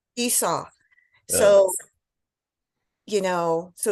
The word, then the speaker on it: Esau: Esau. Esau.